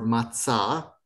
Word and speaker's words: matzah: Matzah, or matzah, if you're Israeli, if you're pronouncing it correctly, matzah.